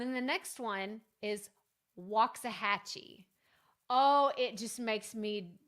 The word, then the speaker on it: Waxahachie: and die inside when people try to pronounce it a lot harder than it is and they say Waxahachie or Waxachachi. I've heard some really, really weird ones before.